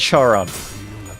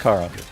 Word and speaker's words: Charon: I swear it's not pronounced Charon. It's not Charon. It's Kon. It's literally pronounced Karon. You You use You use a K sound. Even though there is an H there.